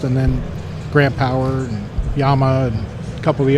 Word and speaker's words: Llama: I don't even Llama. say it right. I don't even say it right. We say llama. Yeah, well, But it's Yama, yeah.